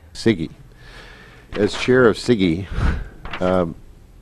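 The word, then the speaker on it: CIGIE: right that's it c-i-g-i-e how do you pronounce it siggy siggy as chair of siggy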